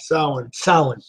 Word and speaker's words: Samhain: It is thought to have originated with the ancient Celtic festival of Shemi. How do you say, Josh? Samhain, when people would light bonfires and wear costumes to ward off roaming ghosts.